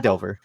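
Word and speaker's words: Phandelver: They encounter a god damn it, How do you pronounce because that there's name, by the way? they The city of El Dorado. Fandelver, um, Fandelver?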